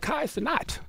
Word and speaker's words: Kai Cenat: him live streaming with Kai Cenat. That's how you pronounce his name, Kai Cenat, right?